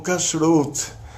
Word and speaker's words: Kashrut: eles terminam com T mudo, como Shabbat, como Kashrut, aí a pessoa que nasceu falando português acaba falando Shabbat, Kashrut, e ainda não é só Ti, é T-C-H-I, não Ti. Então, quando a gente pronuncia uma palavra em hebraico, a gente tem que tomar cuidado. Quando tem T mudo, no final é T mudo mesmo, não tem que acrescentar nem I, nem Ti, nem Xi, nem Mi.